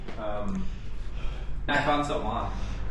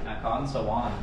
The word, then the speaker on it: Nakhon Sawan: Nakhon Sawan. How do you say? Nakhon Sawan.